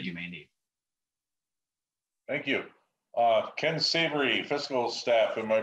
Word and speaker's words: Ken Savary: Ken Savary, fiscal staff. Am I pronouncing that correct?